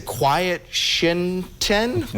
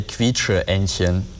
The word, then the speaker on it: Quietsche-Entchen: It looks like you'd say quiet shinten, but I know that's not right. So Daniel, you got to help us out. We might need a beep button. Yeah, so we would say Quietsche-Entchen.